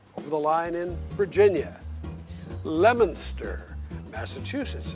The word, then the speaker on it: Leominster: in Tennessee but over the line in Virginia lemonster Massachusetts it's spelled like it ought to be pronounced Leominster